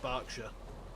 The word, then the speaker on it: Berkshire: It's spelt Berkshire, but it's pronounced Berkshire.